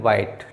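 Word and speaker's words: white: क्या पढ़ा जाएगा देखो डब्ल्यू के साथ में एच आया तो इसको एच साइलेंट हो जाएगा तो इसको पढ़ेंगे वाइट ठीक है अब जैसे यहां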